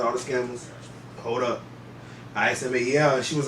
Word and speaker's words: Ismael: She's like, Ishmael. I was like, nah, ain't no H. She's like, ain't no H. I was like, nah, it's ISMAEL. She was like, okay, shout out to all the scammers.